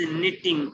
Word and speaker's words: knitting: नहीं, इस तरह से बोलना, सरोजा एंजॉयज निटिंग, वो किटिंग नहीं है, वो निटिंग है, के साइलेंट है, Knitting.